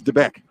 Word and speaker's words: DeBeck: Yes, I checked because we've been saying DBEC or whatever. It is DeBeck.